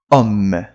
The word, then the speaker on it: homme: Então, o H não tem função nenhuma. Ok? Assim, na pronúncia, claro, tá? Ele tem função, mas na pronúncia. A gente não fala. Não tem som.